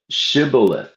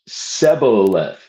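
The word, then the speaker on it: shibboleth: the Ephraites pass that way that they should pronounce the word shibilith. But they being a different tribe pronounced it Sebolith.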